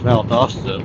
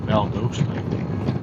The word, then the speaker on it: Valdosta: I always thought it was Valdosta, but Google seems to pronounce it more like Valdosta.